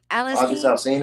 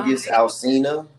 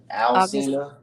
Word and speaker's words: August Alsina: August LSD. Alsina. That's who it is. I can never say his name. I don't know why. August Alsina. August Alsina. LSD. Okay, Like the month August. August. August.